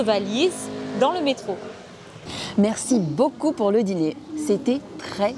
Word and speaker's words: beaucoup: Attention à bien prononcer le « ou » de « beaucoup ». Beaucoup de personnes ont tendance à le prononcer comme un « u », ce qui change un petit peu le sens.